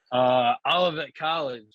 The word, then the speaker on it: Olivet College: I can never pronounce it, man. What was that university you went to? Olivet College, man.